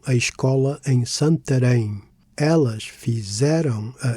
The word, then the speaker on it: escola: As for fizeram and escola, no accents are necessary. Stress falls naturally on the penultimate syllable.